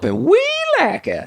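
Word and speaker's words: Welaka: comes out we're in we lack of florida we lack it and that's how you have to pronounce it actually i think if you're from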